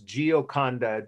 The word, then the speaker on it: Gioconda: on your syllabus, so I don't need to spell that. Her real name was Gioconda, Gioconda.